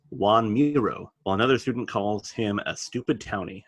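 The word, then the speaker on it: Joan Miró: by a corrects Homer and says that it's pronounced Juan Muro while another student calls him a stupid townie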